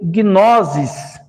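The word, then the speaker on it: γνῶσις: Palavra sabedoria se escreve Sofia. Nós temos conhecimento no grego se lê gnosis.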